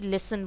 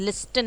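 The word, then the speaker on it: listen: उसके बाद आप देखिए टी साइलेंट, हेसन यानी कि जल्दी करना, लिसन यानी कि बात सुनना, यानी कि लिसन बोल रहे हो, लिस्टन नहीं बोल रहे हैं आप।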